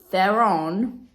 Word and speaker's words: Theron: we get to meet the absolutely brilliant Charlize Theron yes I pronounced this surname correctly as the this time